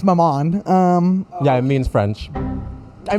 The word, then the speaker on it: maman: Well, it rhymes with my mom. It's maman.